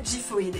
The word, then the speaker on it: Xiphoid: Pour le Blade, on a Gifoid. Et oui, on sait maintenant que ça se prononce comme ça grâce aux vidéos de Takara Tomy.